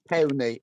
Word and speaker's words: Powney: Powney, and it's Uh-huh.